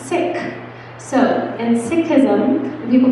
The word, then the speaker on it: Sikh: bracelet he has a silver but he's a sikh or she's a sikh so that's one way of saying it the other thing that i'm saying wrong is i'm pronouncing it when it's really pronounced sick so in sikhism people call it sikhism and